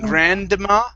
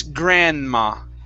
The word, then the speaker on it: grandma: now in this word the d the d here is silent so instead of saying grandma it's grandma grandma okay grandma good one